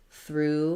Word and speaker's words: through: see in drive-through or you can think about it like through with two o's because even though there's lots of letters here we actually just have the voiceless th the r and the u sound so spelling is definitely